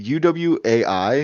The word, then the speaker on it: Uwai: Um my match of the week, it is Bryan Danielson versus Fujita Junior Hayato from do Is it UWAI? Is that how it's pronounced? Uwai. It's somebody's name.